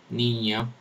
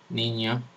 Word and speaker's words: niño: no con valor fonémico esto se escribe en castellano como lo voy a dibujar como la en la n con el til encima con el sombrerito como le decimos acá por lo menos le decimos así en la escuela y esto por ejemplo se encuentra en la palabra niño niño o eh añorar luego